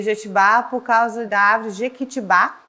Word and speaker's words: Jetibá: E Jetibá por causa da árvore Jequitibá, mas o pomerano não pronuncia o Ki na hora de falar, então virou Jetibá, né?